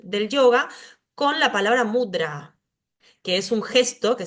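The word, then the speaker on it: mudrā: lo cierto es que esa palabra lleva una a larga es mudra ahora si yo digo mudra estoy diciendo alegre estoy teniendo otro significado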